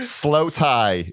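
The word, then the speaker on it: Slowthai: Slow Tie is, and it's spelled THAI. Oh, all right. Like the people.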